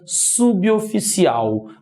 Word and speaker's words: suboficial: palavra começasse por vogal outro problema de pronúncia muita gente pronuncia sub oficial não é sumir oficial é suboficial porque a palavra começa com vogal logo o bebê forma uma nova sílaba com essa vogal certo se você tem